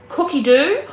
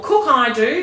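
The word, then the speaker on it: Cookidoo: The other thing is we have our inbuilt recipe platform which is called Cookie Do or Cook I do depending on where you come from and how you want to pronounce it.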